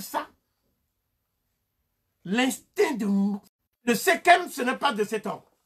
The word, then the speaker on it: Sekhem: Le Sekhem, en fait, c'est Sakamu. Mais on prononce Sekhem pour les égyptologues.